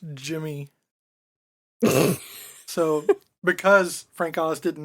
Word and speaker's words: Gardenia: Little Shop of Horrors, Gardenia. It's actually pronounced Jimmy.